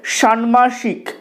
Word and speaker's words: ষাণ্মাসিক: শব্দটার সঠিক উচ্চারণ উদ্বেগ আর এই শব্দটার সঠিক উচ্চারণ হলো সানমাসিক সানমাসিক এই সানমাসিক এর অর্থ